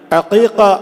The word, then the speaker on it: അഖീഖ: നമുക്കറിയാം, ബലിപെരുന്നാളിനോടനുബന്ധിച്ച് അറുക്കുന്ന അറവ് ഉദ്ഹിയ്യത്ത് എന്നറിയപ്പെടുമ്പോൾ നവജാത ശിശുവിന് വേണ്ടി, ഒരു കുഞ്ഞിന് വേണ്ടി അറുക്കുന്ന അറവ് അഖീഖ ഐനാണ്, അഖീഖ എന്നാണ് അതറിയപ്പെടുന്നത്. ഞാനിത് സൂചിപ്പിക്കാൻ കാരണം പല ആളുകൾക്കും അതിൻ്റെ ഉച്ചാരണം പോലും പലപ്പോഴും അറിയാതെ അഖീഖ എന്നാണ് അതിന് പറയുക എന്നതുപോലും അറിയാതെ കുറേ ആളുകൾ അത് സംബന്ധമായ ചോദ്യങ്ങൾ ഉന്നയിക്കാറുണ്ട്.